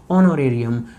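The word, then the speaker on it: honorarium: किस नाम से आएगा, ऑनोरेरियम। कृपा कर देना इसे कोई भी ऑनोरेरियम ना पढ़े, ठीक है जी, इसमें एच साइलेंट है तो ऑनोरेरियम इसकी प्रोनाउंसिएशन बनेगी, तो कृपा करके कोई भी गलत ना पढ़े।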